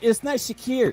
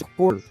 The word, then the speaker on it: Shakur: It's not Shakir. It's Shakur.